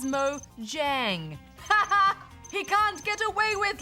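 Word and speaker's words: Mojang: Transformed in the news Goose said moyang when the company's correct name is Mo Jang he can't get away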